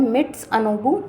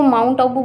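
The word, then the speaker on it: Mitsunobu: अच्छा, मैं इसको माउंट आबू बोलती थी, तो अब मैं अपने प्रोनाउंसिएशन को ठीक कर रही हूँ क्योंकि गलत बोलना अच्छा नहीं होता, तो इस वजह से हम मिट्स अनोबू रिएक्शन ही बोलेंगे।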